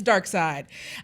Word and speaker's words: Darkseid: And Darkseid is spelled weird because it's Jack Kirby, but it's Darkseid.